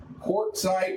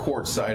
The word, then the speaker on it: Quartzsite: So it's not with a C. Yeah. Quart, like a quartz watch, Zeit.